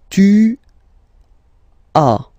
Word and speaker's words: tu as: Okay, second one, tu as. Okay, as usual in French, final S is not pronounced.